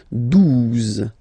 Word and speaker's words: douze: exist phonetically, onze, okay, douze, douze, O, U, the two together will give you the sound OO, okay, and then Z, douze, douze, alright.